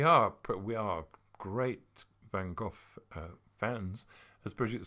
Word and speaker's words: van Gogh: but we are great van Gogh fans as Bridget said I mean I believe if you pronounce it correctly it sounds as though you've lost your voice but I I love